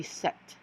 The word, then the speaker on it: sept: we're going to seven seven is except almost like September like more September and weird right but it's gonna be set like so easy see set